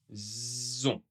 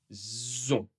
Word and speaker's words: ont: Encore une fois, il n'est pas prononcé.